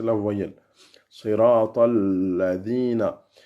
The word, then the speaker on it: الذين: Siratal ladina. Et après, on a LA. D'accord? C'est la voyelle A. Et après, Dina. Et c'est un zel. C'est un Z qu'on n'a pas en français.